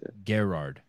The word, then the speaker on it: Garard: uh uh Ricky Gerard am I pronouncing your last name right garage yeah Gerard I like to say Garrett when I'm sometimes when